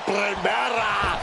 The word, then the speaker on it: Primera: You need to roll your R's a little bit on that, man. La Primera.